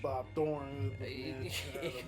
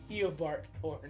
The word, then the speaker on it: Eobard Thawne: Bob Thorne. Messed up stuff. That's how you say his name, right? No. How you say his name? Eobard Thorne.